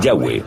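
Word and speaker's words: Yahweh: son y hw h y pensamos que probablemente se pronunciaba el yagüe o algo así pero ya ve solo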